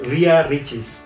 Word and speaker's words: Ria Ricis: Okay, for the first, as always, can you try and pronounce her name? Ria Ricis. Ria Ricis. Ria Ricis. Oh, you almost right. Ria Ricis.